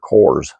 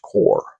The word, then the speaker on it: Corps: ribbing him uh but it should be noted that the word is correctly pronounced core goer arrives at a